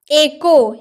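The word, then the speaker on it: echo: एको यानी कि गूंज। एको यानी कि गूंज। तो एच कब साइलेंट रहता है?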